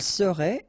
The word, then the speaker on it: serait: Il serait, elle serait, final T not pronounced.